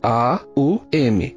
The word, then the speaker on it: Om: vem imediatamente é o Om. Na verdade, a combinação fonética de Om não é de duas sílabas, mas de três sílabas, que é A, U, M. Então a pronúncia correta seria Aum.